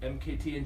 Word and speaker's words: MKTNG: out yeah it's kinda president and CEO you pronounce it MK t ng you're dealing the only pronounce the letters absolutely